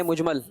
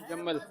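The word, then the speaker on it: مجمل: ईमान मुजमल। ईमान जुमल। मुजमल, meme gym ये साकिन है जीम जी। बाज लोग क्या कहते हैं इसको? ईमान जम्मल। मुजम्मल, ये गलत है।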